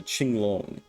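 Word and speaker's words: Qinglong: pronounce pronunciation of uh Ching long and I think it is Ching instead of King we got another Griffon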